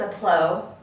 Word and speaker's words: Aplós: And we think it's pronounced Aplos or Aplos. I think it's Aplós. It's Greek for simple, which they value the simple things in life.